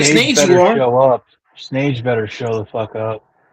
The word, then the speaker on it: Snage: Snage better show the fuck up. He's not gonna show up. Like a real punk. Like snake, but spelled with a G.